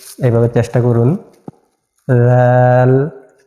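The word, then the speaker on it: ذال: করে বলতে হবে এভাবে জাল সামনের উপরের দুই দাঁতের আগার সঙ্গে লাগাইয়া উচ্চারণ করতে হবে জাল এভাবে চেষ্টা করুন জাল র র যা সিন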